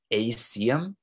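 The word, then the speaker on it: aecium: I think it's acium. It's spelled A-E-C-I-U-M.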